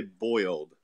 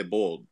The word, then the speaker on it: boiled: You have to pronounce boiled peanuts correctly. You don't say boiled. You say bold.